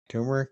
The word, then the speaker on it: turmeric: Turmeric. Is that how you say it? Tumeric. I say turmeric.